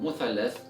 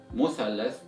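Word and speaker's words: مثلث: today in the lesson, in Egyptian Arabic dialect, we learned that in order to pronounce this word, you need to pronounce it with letter sin or the S sound.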